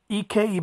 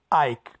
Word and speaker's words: Ike: watching the fight of EKG ba ba Chi you guys would say Ike but I say ek because as a that's how the ebo tribe pronounce it you know the Tri